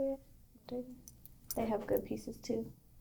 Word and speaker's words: Bottega: Bottega.